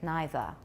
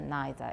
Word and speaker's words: neither: other yes neither yes in British English it's pretty standard neither either neither in British in Americans some people say it I don't think it's